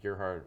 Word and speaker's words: Gerhard: So the thing with Cerberus is Dave Sim and I think his name you pronounce his last name Gerhard were from my hometown, Kitchener-Waterloo, and Gerhard's wife